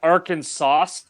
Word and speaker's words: Arkansas: meeting you guys too it's actually it's actually pronounced arkansas yeah there's actually a great bluegrass band here